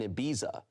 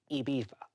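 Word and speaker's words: Ibiza: cation with his brother-in-law, a 35-year-old man in Abiza. How do I handle this? Okay. Pronounce it. Well, first of all, pronounce it properly. Iba.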